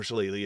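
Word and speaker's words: shillelagh: because when you use Shala on it or shalele again people correct me on the pronunciations there's two pronunciations of that word uh it grants Ironwood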